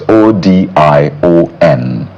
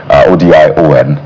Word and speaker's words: Odion: So ODION, that's to spell the name, but I imagine it's pronounced as Odion.